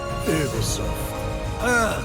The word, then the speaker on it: Ubisoft: It is actually pronounced Ubisoft. The French.